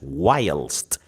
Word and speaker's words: whilst: That's whilst. We spell it WHILST.